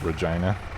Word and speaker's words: Regina: me to say it is it really it's regina okay well when i was a kid well this was in middle school there was a girl in my class named regina and when our gym teacher was taking attendance